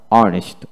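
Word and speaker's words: honest: তারপর honour, honour, H উচ্চারণ হবে না, যেমন hour, O ইউ R, hour, ঘন্টা, অনেস্ট, অনেস্ট, এখানে এইচ উচ্চারিত হবে না।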